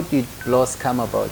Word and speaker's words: Blose: No, but then okay, when I was growing up, my grandfather told me it was Bulose.